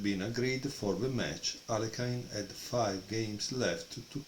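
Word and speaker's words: Alekhine: because he beat uh alakin or Aline as the Americans say it um in a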